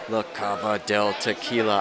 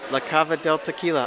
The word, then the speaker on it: La Cava del Tequila: in is actually for la caba del tequila i said it right la cava del tequila i can do it wow all right